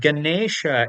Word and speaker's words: Ganesha: So, to give you an example, the word Ganesha is not having that usual N in it. Indeed, it has this rna at the place of N. So, correctly, it is not Ganesha, but rather Ganesha.